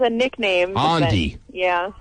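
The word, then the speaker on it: Aundi: Ondi? Ondi. Ondi. How do you spell that?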